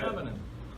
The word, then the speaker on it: Sanonen: And how do you like your last name to be pronounced? Do I say it? How do you like it? Perfect. All right, good. Sanonen.